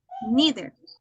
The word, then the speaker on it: neither: and neither in this we going to have two pronunciation it doesn't matter if that is American English or British English I have listen in both of them person either and either Nether nether neither okay then I will